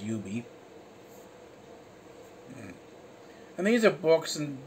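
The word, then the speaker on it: Yoobie: that's that's actually uh y o o b i e so that's but they pronounce it as you be and these are books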